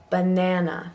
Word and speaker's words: banana: um yeah aunt banana banana so you notice the schwa and the beginning of banana buh even though that's an a so here we have a word with 3 a's that all sound differently banana bath dance dance